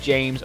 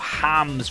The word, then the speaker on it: James: is going to be James Rodriguez, or Hams Rodriguez, or Hammers, whatever the hell you want to call him. I'm going to call him James, because that is how it's said in English, and I'm just going